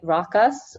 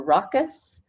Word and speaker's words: ROCIS: So ROCIS stands for Reducing Outdoor Contaminants in Indoor Spaces, and we say it ROCIS or ROCIS, not some other pronunciation.